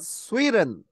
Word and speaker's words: sweeten: 예, sweeten이라고 읽는데 D-E-N이나 T-E-N이 뒤에 들어가면은요. 여러분 한번 해볼까요? 은으로 발음합니다. 은. 예, 예, 강하게 해서 이거를 거기서 중지하는 음인데 스탑 사운드라 그래요. 이렇게 돼요. 그러면 sweet이라는 말이요. T 사운드가 사라지고요. 은만 발음하시면 돼요.